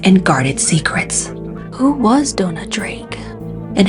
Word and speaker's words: Dona Drake: in this presentation I pronounced the actress's name as Donna but it's Dona Drake in the Golden Age